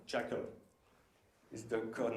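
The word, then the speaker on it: J2CL: Its name is G2CL for Java to Closure, and we have to pronounce that Jackal.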